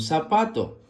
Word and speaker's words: zapato: bien Eso es un zapato la palabra zapato se escribe con z